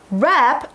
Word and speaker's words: wrap: Wrap, W-R-A-P 字首的 W 是不发音的，它是包裹、包扎的意思。那常见的用法有什么呢？比如说 to wrap one's arms around something，双臂抱住某物。那文章当中被抱住的东西是 pillows，枕头。